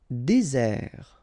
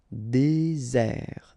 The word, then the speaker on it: désert: Désert. Okay, remember, final T not pronounced. Désert. And really this Z sound just because you've got one S between the two vowels.